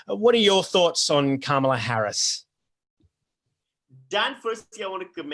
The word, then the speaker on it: Kamala: What are your thoughts on Kamala Harris? Dan, firstly, I want to commend you on your pronunciation of the name Kamala, because most of